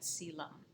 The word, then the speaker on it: coelom: And I know this word, it's spelled a little bit funny, but we pronounce that coelom.